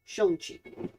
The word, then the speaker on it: Shang-Chi: Or I should say Shang-Chi. That's actually how it's pronounced.